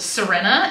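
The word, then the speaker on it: Xirena: nice this is a brand called Serena and that's spelled x i r e n a see if I can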